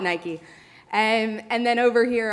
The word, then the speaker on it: Nike: protests against Nike or I guess that you would pronounce it naik I should have just started by getting that cultural snafu out of the way I'm gonna call it Nike and and then over